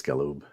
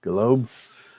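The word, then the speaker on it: Galoob: I think it's Galube. Come on. What kind of toy collector are you if you can't pronounce Galube? Galob.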